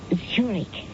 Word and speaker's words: Zurk: a chair Mrs Zurich that's pronounce zurk as in the Swiss city oh I see uh